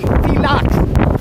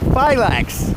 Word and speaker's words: Phylax: Well, his name is Greek, and the Greek pronunciation for that phonetic spelling would be Phylax, Right. not Phylax. It would have the accent on the second syllable, and the A would be said like a short O is in English.